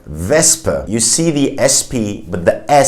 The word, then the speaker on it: Wespe: So you have a S sound, not a sh sound. You say Wespe.